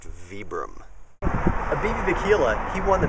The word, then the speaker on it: Vibram: It's pronounced Vibram.